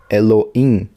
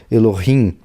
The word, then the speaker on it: Elohim: tem som de vogal por exemplo bereshit bará Elohim Elohim Elohim é um R mais mas não é brutal elorrim tá então tem o é o rim tá tem essas pronúncias vocalistas mas não hebraico eu não escrevo